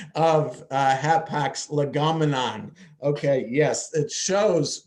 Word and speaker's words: hapax legomenon: the appropriate pronunciation of hapax legomenon. Okay, yes, it shows when I said legotomon, it shows that I know nothing about Greek or Latin, whatever language that term came from.